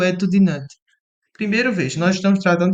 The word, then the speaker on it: Nantes: O Eto de Nantes, Nantes se pronuncia assim, né?